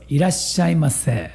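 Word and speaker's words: いらっしゃいませ: If you say mase, more polite. So irashai mase.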